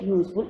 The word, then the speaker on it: useful: A. Why A? Because here U is giving U consonant sound.